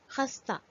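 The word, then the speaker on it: خستہ: In this case, Gol Hai is written but is not pronounced. For example, Khe, Seen, Te, Gol Hai, Khasta, crispy or fragile.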